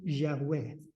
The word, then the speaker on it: Yahweh: tampoco le puso atención Qué quiere decir Yahweh por decirlo como se pronuncia en hebreo Jesús se apropió de